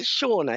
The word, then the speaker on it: Shauna: Is it Shauna? Is that how I pronounce your name? Yes. Oh, great. Okay. Got the pronunciation right.